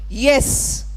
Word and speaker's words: yes: You know, a simple word like yes, or a word like young, or a word like yellow. So simple, so often mispronounced as S, L-O, Eng.